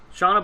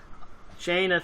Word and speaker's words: Shayna: Shauna Blazer versus Kyrie Sane for the NXT Women's Championship. Shayna, thank you.